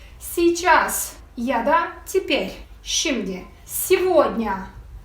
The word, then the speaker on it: Сегодня: Сегодня. Burası dikkatli olun. Его diye okunuyor.